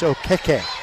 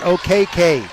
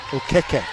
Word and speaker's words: Okeke: first half points, and I've been taught by her how to say her name right. It's Okeke, not OKK, Okeke.